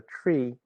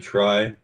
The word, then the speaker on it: trie: implementation of the tree steve did i pronounce that correctly or is it try most folks around here pronounce it try i was uh a student of the inventor of it and he pronounced it tree that one the t-r-i-e